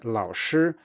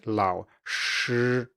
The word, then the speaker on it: 老师: If you were to pronounce the sh in 老师 simply as sh plus voicing, you would get something like 老师. And now, of course, I said it a bit exaggeratedly, but maybe you could say 老师. And this is already 99% towards the correct pronunciation.